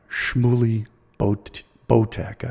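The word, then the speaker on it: Shmuley Boteach: Kennedy Jr., whose handler is Rabbi Shmuley Botek, I believe is how he pronounces his name.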